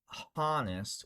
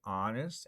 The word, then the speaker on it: honest: So, we don't say hour, and we don't say honest if someone is true, okay? We say honest, and we say hour. So, the H's in many English words are just silent.